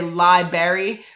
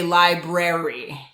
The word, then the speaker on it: library: you should be saying don't say libary say library and so people are